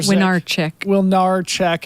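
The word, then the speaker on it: Młynarczyk: Meanwhile, Abby Hall and Martina Milnarczyk, I'm mispronouncing her last name. I'll remind myself how to say that in a second. It's a W. Okay, thank you. Winarczyk.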